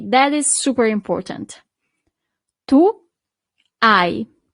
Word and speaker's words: hai: Tu hai. So you don't really pronounce the H at the beginning.